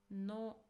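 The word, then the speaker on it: の: No. No. So this is a modifying particle. It is pronounced as no and it indicates possession.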